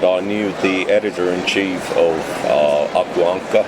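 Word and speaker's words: Aku Ankka: And I knew the editor-in-chief of Akuankka, as it's pronounced in Finnish, Jano Duck, quickly.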